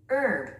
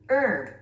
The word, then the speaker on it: herb: 그런데 원어민들은요, 스트레스를 맨 앞에 주면서 herb, herb, herb, 허브, 약초 이런 의미를 갖고 있습니다.